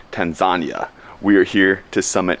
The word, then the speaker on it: Tanzania: Good morning from Tanzania, Africa, or as locals say, Tanzania.